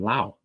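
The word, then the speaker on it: Laos: uh from LA from Lao they don't pronoun they don't pronounce the S on the end but oh hey hey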